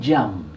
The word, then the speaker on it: Jeame: Jam. Jam. Así se pronuncia. Así se pronuncia. J-A-M. J-A-M-E. Ah, Jam, y se pronuncia Jam.